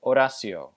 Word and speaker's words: Horacio: they're pronounced Marcos and Horacio. Notice again that the letter A in Marcos and Horacio is not really a or ah, but it's more like a cross between a and ah.